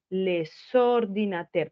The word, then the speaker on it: les ordinateurs: La voy a pronunciar cuando la siguiente palabra empieza por vocal y hago una liaison, ¿cierto? Les ordinateurs, pero miren que la estoy pronunciando en la siguiente sílaba con la O, ¿cierto?